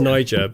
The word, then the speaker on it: Niger: are two different countries it's pronounced Nyjah but okay so okay